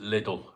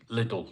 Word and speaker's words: Lidl: I don't know how you pronounce it where you lot live, but I pronounce it Lidl, right? Lidl, not Aldi, Lidl, the other one, Lidl, right?